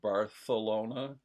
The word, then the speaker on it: Barcelona: Apparently, the queen had a lisp, so that's why it's pronounced Bartholona instead of Barcelona.